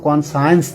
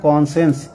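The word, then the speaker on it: conscience: কনসেন্স মানে বিবেক, উচ্চারণ কিন্তু কনসায়েন্স না, উচ্চারণ হবে কনসেন্স, মানে অবশ্যই বিবেক মেনে চলা উচিত।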